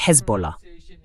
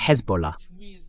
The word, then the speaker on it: Hezbollah: D'abord, il a dit Hezbollah. La prononciation correcte, c'est Hezbollah.